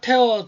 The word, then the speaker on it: tear: 그 다음에 다섯 번째는 테어 드랍이죠. 티어와 영어 단어는 이제 TEAR 똑같은데 발음하는 거에 따라서 여러분들 뜻이 다른 거 알고 계시죠? 티어라고 하면 눈물이고 테어 하면 찢다 뭐 이런 얘기.